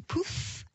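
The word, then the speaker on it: Puth: pour nous aider à prononcer le nom de charlie p u th pas évident on prononce sa commande charlie poole car le push sur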